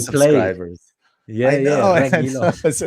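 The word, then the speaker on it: Reguilón: Yeah, if we're saying like nobody's gonna keep a clean sheet, then Reguilon, that the U is silent, by the way. Pretend the U doesn't exist.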